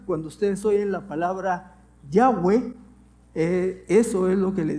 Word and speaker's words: Yahweh: Es el tetragramatón, que son 4 consonantes, y que ahora los estudiosos bíblicos encontraron que el sonido más cercano no es Jehová, sino Yahweh.